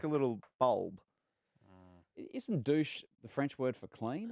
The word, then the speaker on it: Dusche: Dusche.